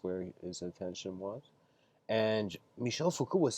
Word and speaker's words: Michel Foucault: having a debate with Michel Foucault I'm trying to say it like it's the French would say and he was with